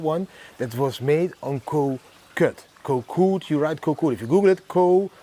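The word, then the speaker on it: Koh Kood: You pronounce it like Koh Kut, but if I say Koh Kut in the Netherlands they think I'm saying kut, which means pussy.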